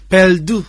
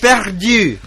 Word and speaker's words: perdu: Perdu. Very good. Perdu.